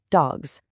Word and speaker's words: dogs: So we actually add a buzzy, vibrating Z sound at the end. We spell it with an S for sure, but we pronounce it dogs.